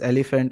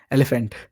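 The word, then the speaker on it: Elbhnt: But yeah, I mean I'm pronouncing him as elephant. I don't know the spelling. Wait, let me like let me check. Let me double check. Yeah, it's E LB H NT elephant.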